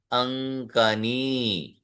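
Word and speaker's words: अङ्कनी: क, ख, ग, ग, ng, वो है यहाँ पे, है ना, क ख ग घ ng, इसलिए उसका उच्चारण भी वैसे ही होगा, अंकनी, अंकनी।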